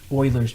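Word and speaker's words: Euler: The difference here is the the E and that letter E refers to Oilers's number. Now, Oiler is spelled Uler.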